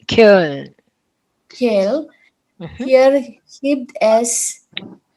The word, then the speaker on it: Köln: Koln? It's Köln. Köln.